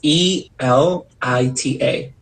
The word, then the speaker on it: elita: what i come on grandma is so it's e-l-i-t-a elita oh cool my my nieces and nephew